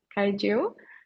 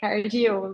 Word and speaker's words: Cargill: I am accounting analyst in Cargill. In Portuguese, we pronounce like Cargill, but in English, it's Cargill.